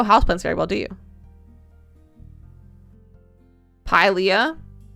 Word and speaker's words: Pilea: Pilea. I'm gonna say it's Pulia. That's how I've always pronounced it. And that's what we're going for today. That's what I've decided. It's Pulia.